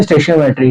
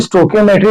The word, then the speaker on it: stoichiometry: 1, जिसका नाम है स्टेशियोमेट्री। ठीक है, स्टेशियोमेट्री और स्टोकियोमेट्री दोनों प्रोनाउंसिएशन इसकी ठीक है। कुछ लोग स्टेशियोमेट्री की यूज करते हैं और कुछ स्टोकियोमेट्री।